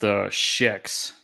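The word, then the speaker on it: xHEX: It's pronounced Shex.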